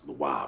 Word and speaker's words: Le Roi: Leroy. It's the same thing. Nah, it ain't. It's spelled L-E space R-O-I, like the king in French. Franco-phonetically speaking, it should be pronounced Leroy, but I ain't trying to confuse nobody, not me.